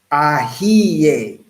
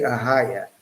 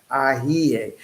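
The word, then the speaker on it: Ehyeh: Ahiye. I didn't say Ahaya. Ahiye. And that's the modern Hebrew, how you would pronounce I am that I am.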